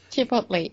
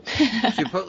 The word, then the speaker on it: Chipotle: So Chipotle is wrong. Chipotle is correct.